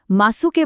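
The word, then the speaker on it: ます: যখনই বাক্যের শেষে দেস থাকবে তখন শেষে ইউ এর উচ্চারণটা একদম সাইলেন্ট হয়ে যাবে। মানে এটা শোনাবে ঠিক দেসের মত। যেমন ধরুন ওইশিদেস। একই ভাবে মাসুকে বলতে হবে মাস এবং আসিতাকে বলতে হবে আসতা।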